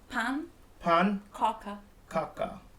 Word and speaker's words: pannkaka: Pannkaka. Yeah, it's called pannkaka. Pannkaka? Yeah. Pannkaka. Pannkaka. Am I saying it right or wrong? Say it again. Pannkaka. No, pan. Kaka. Pannkaka. Pannkaka.